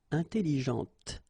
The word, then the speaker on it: intelligente: Okay, intelligente. Same thing here. When you put this well, actually you will pronounce the final T, okay, but you don't pronounce this here.